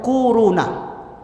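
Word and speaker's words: كورونا: kwau row nah Hai korona bacanya tuh kuruna akhir-akhir ini bukan Tibet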